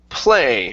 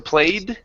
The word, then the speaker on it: play: Let's go to play right here. So you added a D sound at the end, saying you don't want to played. Okay, so end on that A sound.